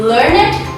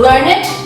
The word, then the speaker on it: learned: In some cases, the only thing that distinguishes the verb from the adjective is pronunciation, as in learned behavior, verb, and learned scholar, adjective.